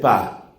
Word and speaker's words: pas: Y yo miro cómo está escrito y resulta que ese pa tiene P-A-S, pero la S no suena. Y la profesora me dice, no, la S no se pronuncia.